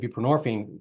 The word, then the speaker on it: buprenorphine: nxone and borine and buprenorphine rhymes with morphine um and is a